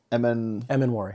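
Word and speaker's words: Emmanwori: I think I see him, it's pronounced Immanwori. I can never get that right. Immanwori, I'd have him with a sack and interception in this game.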